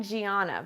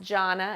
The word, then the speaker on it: Gianna: So you're going to see my name spelled Gianna, which looks like Gianna, but it's not. It's pronounced Jonna, and I'm Italian, and I am just very happy to be here.